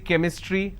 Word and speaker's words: chemistry: for example change but when i have the word chemistry ch becomes ker sound so i say chemistry i say chrome so